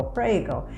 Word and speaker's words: prego: in a certain place and say pray go prego and they will point